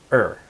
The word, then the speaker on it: or: So the word 'or' in English is often pronounced 'r.' Okay so we cut out the O, and we connect the 'r.'